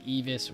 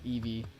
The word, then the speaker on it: Evis: I've been saying Evis wrong this whole time. It's Evie or Eve. Evis. I guess the S is silent. Been pronouncing one of my members' names wrong for how long now?